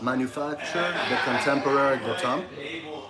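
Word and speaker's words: Manufacture Contemporaine du Temps: Manufacturer the contemporary bout. That's the French pronunciation, but uh basically manufactured the contemporary time and the watch is called a sequential tool.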